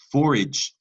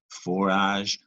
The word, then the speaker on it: forage: Forage, forage, right, has a French root, forage, and that silent E without it, that says forag. That's a hard G. You need that soft G, just a gentle giant. Forage.